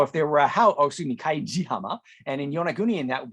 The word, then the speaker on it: Kaijihama: houses was located and that beach is called Kaidihama and so if there (oh excuse me Kaijihama) and in Yonagunian that would be pronounced and if you add "ya" meaning house